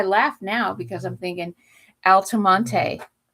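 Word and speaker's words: Altamonte: And there's a place in Florida called Altoont, but it's spelled A L T A M O N T E.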